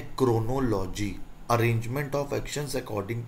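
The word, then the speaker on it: chronology: Actually इसका जो pronunciation होता है वो होता है क्रोनोलॉजी, क्रोनोलॉजी।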